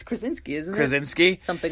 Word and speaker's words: Krasinski: John Krafowski. It's Krasinski, isn't it?